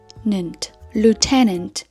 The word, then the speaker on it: lieutenant: Nó là Lieutenant. Trọng âm vào âm tiết thứ hai.